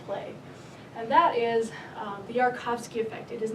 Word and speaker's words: Yarkovsky: with the OSIRIS-REx 3-to-1 science team describing the Yarkovsky effect.